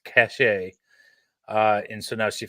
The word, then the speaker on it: cache: question when Brian end so she says cach a and then she got a bunch of emails apparently over the weekend or whatever that said uh no you were saying it right it is pronounced cache uh and so now